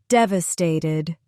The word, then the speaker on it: devastated: Four syllables. Dved. Stress is on the first syllable. Dved. Repeat slowly. Devastated.